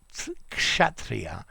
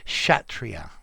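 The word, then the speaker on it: Kshatriya: the way i think the word chatria is pronounced as if the word begins with an sh so shatria okay i'll give that a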